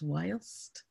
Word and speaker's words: whilst: whilst is spelled V-H-I-L, what looks like a F is actually the elongated S-T, it's pronounced like an S, so it's whilst.